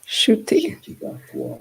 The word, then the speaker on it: Ncuti Gatwa: Ncuti. Gatwa.